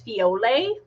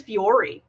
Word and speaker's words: Fiore: at the front, and they kept pronouncing the antagonist's name as Fiole. And me and my sister are like, is that how they're going to pronounce it in the new dub? Because his name is Fiore.